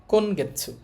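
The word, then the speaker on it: 今月: উচ্চারণটা গাছু হবে না এখানে আবার উচ্চারণটা হবে দেখেন গেছু কোন গেছু কোন গেছু অর্থ হচ্ছে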